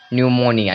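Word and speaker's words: pneumonia: है प है ना तो इस प का कोई भी साउंड नहीं आएगा देखिए यहां पे आधा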